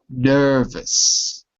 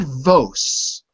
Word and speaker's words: nervous: Okay, and the first word is also nervous. Nervous. Yeah, not vos.